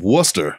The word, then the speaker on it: Worcester: I'm sure I spelled it wrong, but I know there's a C in it and you don't pronounce it. If you bring up Worcester, it's the same.